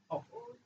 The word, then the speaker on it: off: Double F at the end. Off. How do you pronounce it? Off. Okay. What about the other one? How do you pronounce it? Of. Huh? Of. Of. You see of like a V, right? Double F is off.